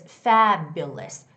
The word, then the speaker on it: fabulous: So, it's fabulous. Fabulous. And the stress goes on the first syllable. So, it's going to be fabulous. Fabulous. You try to make that first sound louder, okay?